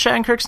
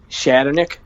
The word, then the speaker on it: Shattenkirk: How do you pronounce Shattenkirk's name? Huh? How do you pronounce Shattenkirk's name? Shatternick. It's Shattenkirk.